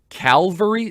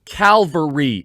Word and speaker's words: Calvary: calvary to come cavalry now anyone in the christian world knows that there's a difference between calvary and calvary i sometimes without unintentionally mispronounced one or the other but i know the difference calvary c-a-l cavalry one is where christ was